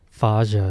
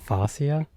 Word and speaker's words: fascia: I keep thinking father. I might be saying it wrong. Whose is this It's guy's Faja? Faja. Faja. Guys, good. Your whole body has Faja. Faja. I think I'm saying it. It's fascia.